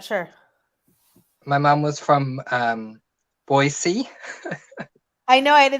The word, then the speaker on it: Boise: My mom was from Boise.